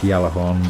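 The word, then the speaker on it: Gjallarhorn: Which apparently Galahorn's actually pronounced Yalahorn, but that just sounds wrong, so I'm going to call it Galahorn.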